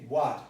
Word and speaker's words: watt: But this is necessarily pronounced what. What. It's a measure of energy, of power. Okay, watt.